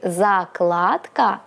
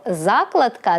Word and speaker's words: закладка: помилилася В жодному наголосі у слові закладка наголос залежить від значення слова тобто закладка - це предмет смужка паперу тасьма що закладається в книгу зошит для позначення потрібного тексту а закладка - це дія те саме що закладання говоріть українською правильно